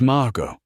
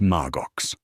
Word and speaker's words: Margo: It's Margo, not Marggo.